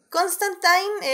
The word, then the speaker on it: Constantine: la el regreso de constantín a la pantalla o a nuestro streaming lo que sea primero pero bueno Muchas gracias o cómo se pronunciaba Constantine era creo que la manera correcta No sí porque sí